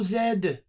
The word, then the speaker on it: zed: Control zed. Yes, you Americans, that's the correct way to say Z.